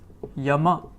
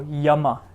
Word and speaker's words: yama: So yama, yama, ya, ya. Then we have the next semivowel, which is ra, ra, ra.